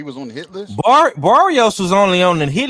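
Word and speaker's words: Barrios: How do you pronounce his name? I forgot. Barios.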